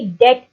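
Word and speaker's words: debt: ये वर्ड है डेट डी ई ी टी ी इसम साइलेंट है आप इसको डेप नहीं पढ़ेंगे आप इसको सिंपली डेट पढ़ेंगे ठीक है अगला इसका सेंटेंस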